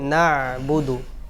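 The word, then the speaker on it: نعبد: নাবুদু নাবুদু ওয়া ইয়াকা নাসতাাইন এখানে যে মারাত্মক ভুলটা হয়েছে সেটা হলো নাস্তাইন তা লম্বা হয়ে গেছে তার মধ্যে কোন মাদ নাই নাসতাাইন নাসতান এরকম হবে নাস্তাইন ইয়াকা নাবুদুও ইয়াকা নাসতাাইন নাসতাাইনদিনাি মুসতাক আলাইহি এখানেও যে ভুলটা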